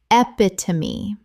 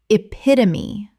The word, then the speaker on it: epitome: Epitome. Correct pronunciation. Epitome. Four syllables. The E at the end is always pronounced.